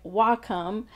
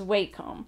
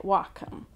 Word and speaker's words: Wacom: might notice that in this video I'm actually pronouncing it Wacom which has been really hard I actually had